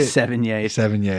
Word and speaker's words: Sevigny: Sevigny.